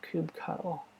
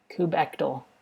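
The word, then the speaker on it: kubectl: install cubes TL uh there's some other way to pronounce it not Cube cuddle kubectal kubectal okay look at this nonsense yeah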